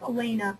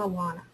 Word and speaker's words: Alaina: Levine, actually my name is pronounced Alaina, not Alana.